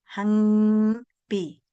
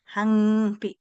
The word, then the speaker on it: hampi: Este es un sonido nasal. Hampi. Entonces su nombre es hampi. Y esta ja hesan, mis estimados, siempre van a pronunciar algo así. Hampi. ¿Se dan cuenta? La H reemplaza la J en el castellano. En el castellano hay J, pero en el quechua no hay J.